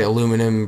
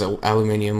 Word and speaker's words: aluminum: it we dropped it americans slash canadians say aluminum british says aluminium let's not argue about